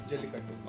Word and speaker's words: Jallikattu: In my opinion, right, starting from Jallikattu. Correct. That is how it's pronounced? Yes, Jallikattu.